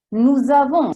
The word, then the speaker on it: nous avons: Nous avons, stessa cosa. Nous da solo si direbbe nous. Ma siccome la parola successiva, il verbo avere, comincia con la A, si attacca. Nous avons.